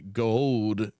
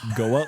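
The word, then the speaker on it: Goa'uld: Would you rather face a gold system lord or a wraith commander? You're pretty close. Goa.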